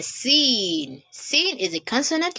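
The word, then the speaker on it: سين: Its pronunciation is quite similar to that of letter S in English. So you pronounce sin as in seen, seen, just as in son, socket, sight, so. So seen, seen, seen.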